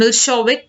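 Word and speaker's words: Milošević: A narrow-minded Serb nationalist, Milosevic, pronounced Milšović, has won the election.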